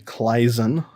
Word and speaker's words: Claisen: our second carbonyl condensation reaction is the Claisen reaction. Okay. Claisen was a German chemist, so I have to train myself to say it right. It's the Claisen reaction.